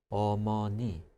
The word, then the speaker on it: 어머니: I've seen it written EO. I think it sounds like UH in English, the sound, right?